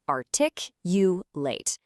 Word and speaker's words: articulate: It is pronounced articulate.